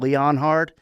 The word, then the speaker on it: Leonhard: My biggest Jim Leonhard issue is that his name is spelled Leonhard. It's very confusing. Jim Leonhard, it should sound like Leonard, but I kind of like that.